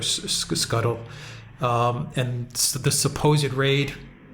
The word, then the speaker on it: Scytl: company and uh scytl I think it's pronounced uh Skittle or Scuttle um and the supposed